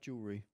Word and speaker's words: jewelry: Like jewelry. Jewelry, yeah. Yeah. Forget about the W.